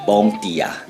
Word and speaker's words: bom dia: palavra em português para bom dia No português europeu se pronuncia Bom dia Mas no português brasileiro